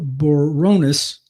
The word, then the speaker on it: Briones: He outpunched Joshua Boronis, that's spelled Briones.